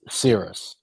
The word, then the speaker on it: Syris: So it's Nicholas Syris.